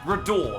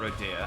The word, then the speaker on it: Rodor: Rodor, that's what it's called, not Rodea. I don't know where Rodea's from. Might be from a different RPG, but Rodor.